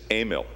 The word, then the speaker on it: Emil: It is Emil, pronounced in the German way.